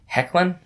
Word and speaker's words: Hoechlin: to Tyler ashlynn is that guy's name ashlynn hoechlin I came hoechlin yeah okay that doesn't sound right I checked